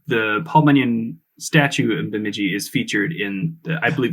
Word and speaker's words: Bemidji: I think the one that comes up the most is, see if I can pronounce this correctly, Bemidji. Oh, Bemidji. Bemidji.